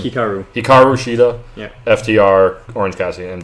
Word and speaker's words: Hikaru Shida: Hiraku? How do you say her name? Hikaru Shida.